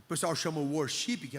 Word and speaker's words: worship: e pegou né porque Worship em inglês a palavra certa é a pronúncia é Worship tá em inglês significa